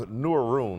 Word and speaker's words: Neuroon: This is, I think, I'm assuming it's pronounced Neuroon, like for neurology, and connected like to what it's a movie.